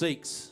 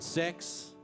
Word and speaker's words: Seeckts: It's pronounced Seeckts, just in case anyone was wondering. There's 2 E's. It's definitely not sex. I don't respond to Mr. Sex outside of the house.